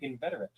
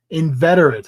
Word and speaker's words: inveterate: Ineterate. Inveterate.